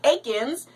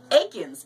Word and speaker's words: Aikens: So if you want to go online, look up Luke Aikens. It's L-U-K-E. His last name is pronounced A-I-K-I-N, as in Nancy, S as in Sam.